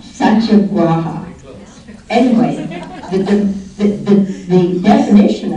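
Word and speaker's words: satyagraha: a g r a h a and I pronounce it SAA graa saaa anyway the the the definition of it is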